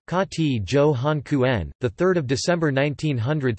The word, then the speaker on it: Kuhn: Richard Johann Kuhn, German pronunciation, K.T. Johann Kuhn, the 3rd of December 1900 to the 1st